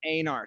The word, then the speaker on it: Einar: There's actually, my side of my family actually pronounces it Einar, sort of like reindeer, right?